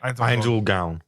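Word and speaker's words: Ainz Ooal Gown: Ainz Ul Gown.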